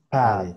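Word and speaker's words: pot: Entonces se alarga un poquito la a y eso significan esos dos puntitos. Que como estás cambiando de un sonido donde hay desplazamiento de aire a un sonido donde hay cancelación de aire, pues se siente como se pasa de abierto a cerrado los conductos nasales y se expresan de esa manera.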